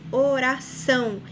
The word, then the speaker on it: oração: Exemplo, oração. Veja que são é a sílaba mais forte, então a palavra oxítona, porque é a última sílaba.